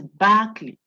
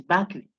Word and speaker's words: Berkeley: This name is Berkeley. You pronounce the ER as if you are saying AR. Bar. So it's Berkeley.